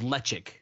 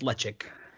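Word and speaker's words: Ledaig: island whiskey um called lechik okay spelled lead l-e-d-a-i-g but pronounced lechik okay and it's weird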